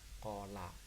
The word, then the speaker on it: cola: Cola, ya, C-nya dibaca K karena setelah C ada huruf O, dibaca cola, dan seterusnya.